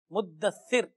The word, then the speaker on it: مدثر: مدثر یہ ہے اصل پروننسیشن. اب اگر آپ اس کو مدثر کہیں گے اور پھر وہ ثا کا بھی تلفظ نہیں سین کہیں گے تو پتہ نہیں اس کا تو معنی بدل جائے گا.